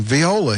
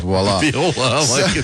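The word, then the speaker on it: voilà: eligible to be president Viola is that isn't that a like a kind of violin I think waila it's the French the the French pronunciation is voila you like that better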